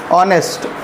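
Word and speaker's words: honest: ठीक ऐसे ही ऑनेस्ट। ऑनेस्ट है। ऑनेस्ट हिंदी में इस तरीके से उच्चारण होता है।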